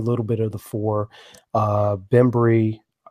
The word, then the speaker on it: Bembry: bit of the four Bembry please correct me if I'm pronouncing that wrong I can't get the name cook that that is correct remembering whoo-ha right um